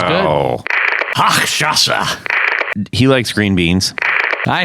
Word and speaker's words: Hochstrasser: Straw haxer. I don't feel bad now. Straw haxer. I'm trying so hard to say it right. Hang on. It's Hochstrasser.